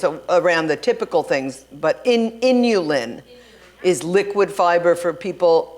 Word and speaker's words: inulin: So there is a product called Inulin. What's it called? Inulin. It's Spell it.